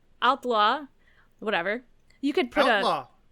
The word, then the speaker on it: Haute-Loire: When establishing a headquarters for the Maquis in a barn in Haute? Haute? I don't think they pronounce the H. I think it's Outlaw.